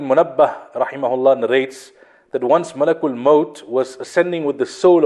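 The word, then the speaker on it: ملك الموت: So Malakul Maut responded, the angel of death, and I explained last week the correct pronunciation is Malakul Maut. Malak means angel. Many people say Malikul Maut. Malik means king.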